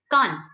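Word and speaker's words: か: Now, ear in Hindi is kan. So, the first sound of kan, basically the first syllable, which is ka, is exactly the same as what we have for hiragana.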